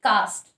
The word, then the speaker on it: caste: सो पहला आज का जो वर्ड है दैट्स कास्ट एंड कास्ट, दोनों सेम प्रोनाउंसिएशन वाले हैं। पहला जो वर्ड है इट इज CASTE, कास्ट।